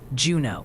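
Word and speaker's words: Juneau: It's Juno for Juno County and Manomomen for Manomomen. They might send Andy to correct you personally if you get it wrong.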